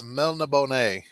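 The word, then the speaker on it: Melniboné: And I'll be honest with you, The Witcher is more separated from Elric of Melbonona. Red, I'll pronounce it for you. It's Melna Bonet.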